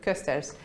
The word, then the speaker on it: Kösters: It's a little hard to pronounce it for non-Dutch speakers, but Kösters.